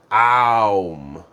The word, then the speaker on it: Om: And Om is typically pronounced Aum.